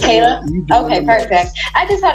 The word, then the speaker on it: Kayla: Do we pronounce your name Kayla or Kyla? It's Kayla?